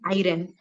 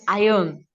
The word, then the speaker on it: iron: Yes, it's not iron. It is iron. It Iron. is iron. Iron. Iron. Okay, R is silent.